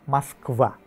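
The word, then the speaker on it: Москва: memiliki aturan ejaannya masing-masing sementara di Rusia orang-orang menggunakan maskva meski begitu semua orang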